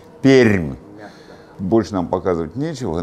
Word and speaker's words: Пермь: Вы говорите Пермь, а это неправильно. Можно как-то мне камеру перевести на... Она не поворачивается. Вот у Сашки такая майка. Скажи громче. Р мягкая. Р мягкая. Пермь. Пермь.